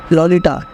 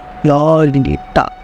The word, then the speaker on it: Lolita: हर जगह कोट होता है, यहाँ पे लॉलिटा प्रोनाउंस करना सिखा रहे हैं। लॉलिटा, light of my life, fire of my loins, my sin, my soul, Lolita.